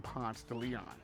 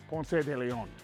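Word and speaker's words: Ponce de León: wife being Puerto Rican, she does not like me saying Ponce de Leon. She wants me to say it like it's supposed to be said because Ponce was Hispanic and used to pronounce his name Ponce de Leon.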